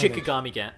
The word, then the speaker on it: Shikigami: Shinigami dance. It's actually Shiki. Yeah, Shikigami. I said it right the first time, then you... I thought you said Shinigami. No, Shikigami dance.